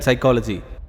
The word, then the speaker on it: psychology: I don't know why P is silent in psychology, but I do very well know why these books are lying here.